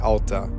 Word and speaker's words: Alta: No, there's no wrong way, but we just say Alta. Most people say Alta.